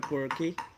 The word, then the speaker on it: Quirke: No, we don't pronounce the E in English. Quirk. Quirk, yeah. Yeah, Now Quirk. in Irish it would be Ua Kirka. Quirka. Because in the Irish you pronounce that E on the end.